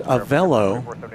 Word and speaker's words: Avelo: So Anna is correcting me, it's Avelo.